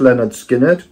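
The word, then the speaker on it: Lynyrd Skynyrd: Yes, so this is pronounced Leonard Skinner.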